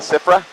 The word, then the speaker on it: SFRA: SFRA , mi, eh, cómo lo llaman SFRA (pronunciado sifra) mi plan de vuelo SFRA Voy a guiarte a través de todo el proceso de entrada a Tipton hoy.